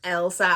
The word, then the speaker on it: Elsa: First, I want to say sorry because I was pronouncing Elsa as Isla last week, and I did not mean to do that. It's Elsa.